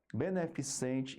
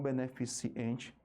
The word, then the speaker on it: beneficente: ó supetão com o beneficente e não beneficiente cérebro propriedade retrógrado r